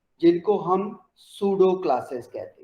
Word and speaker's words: pseudo: ठीक है, ये सूडो क्लासेस आ जाती है, इसका पी नहीं प्रोनाउंस करना। ठीक है, इट इज सूडो क्लासेस।